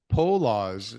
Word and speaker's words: Poloz: So what about Stephen Poloz? I don't know how you say it. Paulos? Poloz. Yeah.